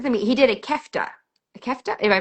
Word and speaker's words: kefta: He did a kefta a kefta. Am I pronouncing that correctly?